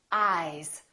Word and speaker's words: eyes: Ice, eyes. Listen to the difference. Ice, eyes. This S is actually pronounced as a Z sound.